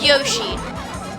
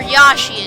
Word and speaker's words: Yoshi: to get ahead of yoshi or yashi as some people pronounce it but they're wrong okay okay the third